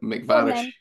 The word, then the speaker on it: MacVarish: this like it's bath and bath it's um mcvarish so you say mcvarish probably all right no